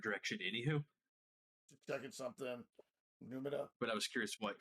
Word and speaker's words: Numina: Is that how that's pronounced? Numina? Numina? Numina. Yeah, Numina.